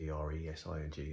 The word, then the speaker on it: Eresing: I think how you pronounce it, E-R-E-S-I-N-G, Eresing.